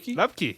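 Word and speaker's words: Luepke: Lupke, yes, Hunter Lupke, dude can ball.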